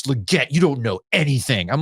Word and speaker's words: Legette: Le it because that's how he wants it pronounced yeah he's like I watched him at South Carolina it's Legette you don't know anything I'm like tell it